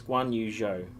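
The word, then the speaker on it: Guanyu: on to Joe um I always pronounce this wrong is guano right that is is how you say it correctly um as far as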